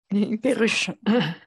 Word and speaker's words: Perruche: I never know how to pronounce this. Perruche.